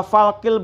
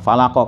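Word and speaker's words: فلق: Jadi baca masdar falqi, bukan falako.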